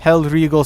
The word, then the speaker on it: Hellriegel: fact it's all DLC being pronounced this Stan schutze held regal submachine gun I think that's how that's pronounced you know back in